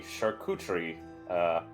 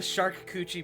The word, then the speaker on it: charcuterie: Raban would like to bust out the charcuterie. That is how It's it's pronounced. charcuterie, you heathen. The shark coochie board.